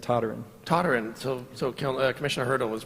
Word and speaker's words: Toderian: My family pronounces it Toderian.